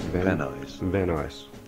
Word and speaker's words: Van Nuys: Van Nuys.